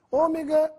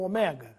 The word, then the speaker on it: Ômega: é com acento necrópsia Ômega ou Omega a última letra do alfabeto grego pode ser Dita e escrita de ambas as formas mas se quiserem impressionar utilize a forma com acento na palavra ômega o